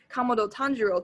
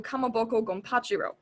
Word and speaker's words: Kamado Tanjiro: with the boar head horribly mispronouncing the protagonist's name, Kamado Tanjiro, turned into Kamaboko Gonpachiro.